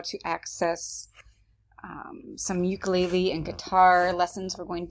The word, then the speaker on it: ukulele: that and by the way ukulele is actually pronounced ukulele and hawaiian and that's where it pretty much